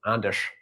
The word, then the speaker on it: Anders: french for baker and my first name is anders which is is swedish or scandinavian it's probably pronounced andesh originally but yeah named after